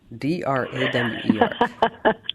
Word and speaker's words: drawer: D r a w e r. Okay. So, so you pronounce it the right way.